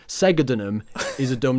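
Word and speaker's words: Segedunum: And basically, the only new thing that we learnt was that it's not actually pronounced sedulum; it's segadunum. Segadunum. Yep.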